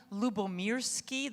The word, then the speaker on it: Lyubomirsky: people are successful so my name is Sonja Lyubomirsky this is I have I always provided mnemonic because it's a little hard to pronounce and it means love and peace in